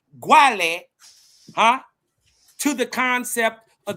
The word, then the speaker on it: Guale: one gu the place of the sun native American origin the guale pronounced guale were the indigenous Mississippian